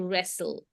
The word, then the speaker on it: wrestle: e re so so here we have tle t is a silent letter here and even e so wrestle you can if if